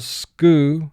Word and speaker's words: schooner: First syllable, skoo, 3 sounds.